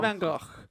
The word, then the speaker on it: Van Gogh: I just think as No, long I as reckon we, you I should think do the real pronunciation, Dave. Vincent Van Gogh.